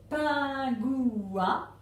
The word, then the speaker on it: pingouin: Et enfin, pingouin. On a l'habitude de dire pingouin, mais il y a effectivement 3 syllabes dans pingouin.